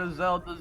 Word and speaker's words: Isolde: Turns out Isolde's a vampire.